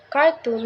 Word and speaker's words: cartoon: similarly in this word the first syllable car is a stress making it cartoon not cartoon number three is purple